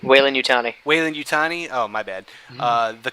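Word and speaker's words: Weyland-Yutani: into the story and they're uh tying in weyland yoon is that how you pronounce it whalen young weyland yutani weyland yutani waylon yutani oh my bad uh the corporation behind uh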